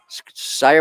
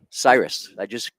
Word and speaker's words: Cyrus: Sire Mamano. I have no idea, but that's as close as we're probably going to get. Sire Mamano or Skyer Mamano. It's Cyrus. We call him Cyrus.